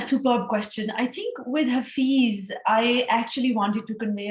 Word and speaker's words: Hafiz: And it is about a young man named Hafiz. Am I pronouncing?